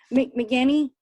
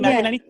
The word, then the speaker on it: McEnany: I'm so McGinney. Oh, Kayleigh McEnany?